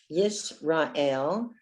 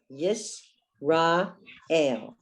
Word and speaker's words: Yisrael: Yisrael. Aleph is another silent letter. So under the Aleph, you have the tsere, the two dots, A. Yisrael.